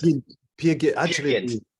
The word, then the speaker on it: Peer Gynt: Peer Gynt. Peer Gynt. Actually, it's a Norwegian play. They say Per Gynt is the Per Gynt.